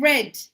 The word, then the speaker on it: read: The read and read. Write the same, pronounce differently. In the past, you read it like the color red.